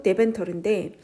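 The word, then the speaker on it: Deventer: 자, 근데 어디 위치가 되어졌냐면 in the city of 음ent 그디ent 디ent터가 어디냐면 그지 데베데벤터르이 뭐 이렇게 얘기해 데벤터르 뭐 네덜란드 발음으로 데벤터르인데 거기에 네덜란즈라고 했어 네덜란드에 데벤트르라는 도시가 있는데 그 도시에 위치한 어 그 노란색 벽돌 집이래요.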